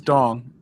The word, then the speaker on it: Dong: I verified with him that I wasn't mispronouncing it. I kid you not, his name was Dong.